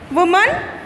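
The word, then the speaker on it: women: वुमन, वुमन का होता है विमेन, इसको विमेन प्रोनाउंस करते हैं, विमेन.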